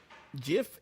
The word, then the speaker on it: GIF: GIF is a GIF. type of No. peanut butter. No. The guy who created it calls it GIFs. Both pronunciations are valid.